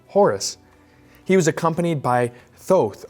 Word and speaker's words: Thoth: He was accompanied by Thoth, or otherwise pronounced Teothe, the god of wisdom, the god of architecture, and so on.